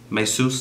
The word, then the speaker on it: Mesus: i should have been doing a lot of mises that's how you say his name is may seuss and i'm just playing mises and uh i